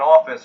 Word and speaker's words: office: I bought an office on the top floor. Yeah. So the word can you pronounce the word office once again? Office. Oh, office. You say an ah sound there.